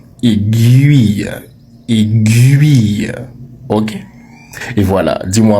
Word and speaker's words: aiguille: Donc, appelle ton prof de magnétisme et dis-lui qu'on ne dit pas aiguille, qu'il doit arrêter de dire aiguille et qu'il doit désormais prononcer le mot aiguille.